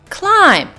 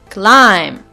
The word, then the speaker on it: climb: a letter for example in the word climb we don't pronounce that last letter B so these letters are